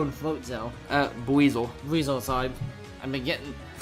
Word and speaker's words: Buizel: Beezo and Floatzel. Buizel.